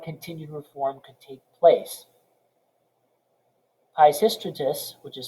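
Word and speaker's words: Peisistratus: brief interlude before continued reform could take place pishystratus which is spelled s t r p-e-i-s-i-s-t-r-a t u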